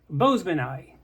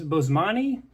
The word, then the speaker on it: Boesemani: fish Boseman ey anyway that's how people like Gary Lang say it but I think most English speaking people who see the name in print tend to pronounce it as Bosman actually I think most Italian speaking people probably would also say Bosman now if you don't